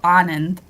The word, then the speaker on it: Anand: first day is like a soft day so anand okay so shelly anand and illustrated by nabi